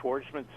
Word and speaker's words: Schwarzman: It's SCH, and then war, like in war, SCHWARZMAN, and that's Schwartzman's Scholars, and from there